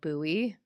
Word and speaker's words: Bowie: city in Virginia but they call it buoy oh how funny yeah